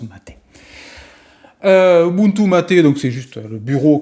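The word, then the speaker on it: MATE: ma Ubuntu maté et on dit bien maté puisque après recherche c'est le nom d'une boisson donc ce qui se prononce ma tête donc c'est juste le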